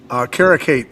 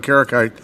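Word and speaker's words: Kareckaitė: So moving on to Ernesta Karakate, is that the correct pronunciation of her name? It is, and then her opponent... Stab in the dark, bro. Stab in the dark. Karakate.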